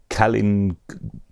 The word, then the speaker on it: Callen: is gonna be one it's Callen or Karlin Gribble's or gray blur or it's Callen yeah that's how it is thanks for sending your